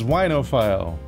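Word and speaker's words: oenophile: it's NFL is wine but I don't know unophile you've got it that's actually how it's pronounced it's whinophile oh I have no idea I know this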